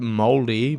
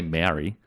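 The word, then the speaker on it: Māori: It's like Mouldy, but just use an R. Mouldy. Yeah. That's right, Mouldy. I get so nervous because I don't want to disrespect anyone, but I'm trying to say it properly. No disrespect. And I don't want to say Maori. Yeah. You know what I mean? Because I feel like that's not right.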